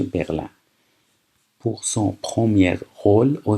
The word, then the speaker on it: Berlin: à Berlin یعنی برلین، تلفظش تو فرانسه میشه برلین.